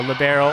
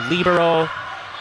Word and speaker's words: libero: the benefits to having a libero or libero it's pronounced different ways nice fun fact definitely